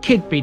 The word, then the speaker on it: Keadby: in kidby which is where we begin it's pronounced kid bee despite being spelt kiev bee the parish covers